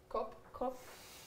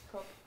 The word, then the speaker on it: kopp: Kopp. Kopp. It's like the store.